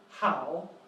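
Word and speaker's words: 好: And it's pronounced how.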